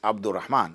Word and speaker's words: Abdur Rahman: Abdur Rahman is a single name, even if, as we call it, is double barrel. Is in, all it is because it's Abdur Rahman. It's only 2 syllables or 3 at best, okay? So that's just one name. People think Abd is one name and Rahman, so they put Abdul or Rahman. Abdul is not a name.